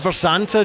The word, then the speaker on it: Mharsanta: a wonderful restaurant and I I never know how to pronounce this and how do you say it it's pronounced vanta James vanta we're going to